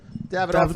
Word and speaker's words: Davidoff: Davidoff, like the cigar.